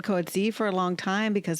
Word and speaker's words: Coetzee: Coetzee.